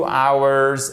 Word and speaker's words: hours: Et on ne prononce pas le H, d'accord? 2 hours ago.